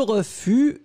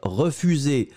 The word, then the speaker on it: refus: e f pu s le s final on ne prononce pas ensuite les formes forme